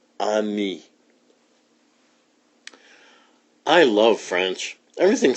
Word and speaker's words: ami: say friend in french the word is ami my mom says you say it like this on me i love french everything